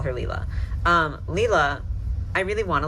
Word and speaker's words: Leela: I think every time I've ever mentioned this doll in a video, I've gotten her name wrong, and we're gonna get it right this time and call her Leela. Leela, I really wanna like, I don't know.